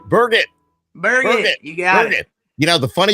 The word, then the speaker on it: Burgett: Burgett, pronounced as Burgett.